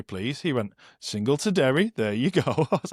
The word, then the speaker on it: Derry: It's just Derry. It's pronounced Derry.